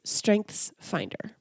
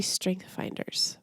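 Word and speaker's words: StrengthsFinder: familiar with strength finder I keep saying it wrong it's strength's finder but I always say strength finders so sorry if I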